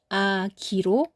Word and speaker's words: 악이: 쓸 때는 악이로 여전히 쓰지만 발음은 아기로 발음합니다.